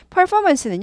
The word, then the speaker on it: performance: 혹은 공연인데 여기선 공연이죠 퍼포먼스는 발음이 힘들어요 발음 오늘 꼭 짚고 넘어가세요이 발음이 어려운 이유는요 p 아고 F 구분하기 몇 분 안 되세요 예 그래서 90% 이상 PF 나오면은 머리가 엄청 혼돈 스럽습니다 PF 어떻게 발음해야 될지 머리로 아는데도 못 하시는 분이 있고 머리로 자체도 모르시는 분도 많아요 그래서 피파파 퍼퍼 퍼포 F 발음이 F 발음 F 발음 잘하셔도 상당히 잘하시는 거예요 퍼 4가 아니라 R 있어서 구부려야 돼요 그러니까 PF 구분하기 1차